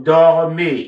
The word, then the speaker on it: dormez: So, nous dormons, vous dormez. Ez is always pronounced a.